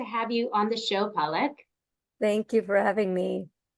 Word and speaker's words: Palak: So the emphasis is on the first part, palak.